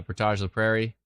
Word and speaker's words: Portage la Prairie: go over to uh Portage la Prairie like porridge Portage what's going on here near Scotch Bay hmm not too much on the closer radar where is Portage not porridge but sounds like it where did you go